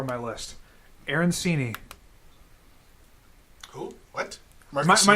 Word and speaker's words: arancini: Arancini. Who? What? Am I not saying it right? Marcassini? Spell it for me, Ty.